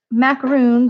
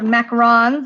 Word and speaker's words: macaron: Then we've got these macaroons or macarons. I guess is how you actually pronounce them.